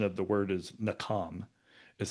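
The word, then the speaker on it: nacham: or the the pronunciation of the word is nam is how it's pronounced.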